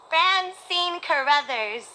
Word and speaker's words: Francine Carruthers: Francine Carruthers. There's a hard and soft C in my name.